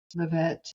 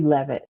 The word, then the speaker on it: Leavitt: Um your website address um at Phyllis Levette. Is that how you say it? Levette. It's actually Levit. Yeah. Levit. Yeah.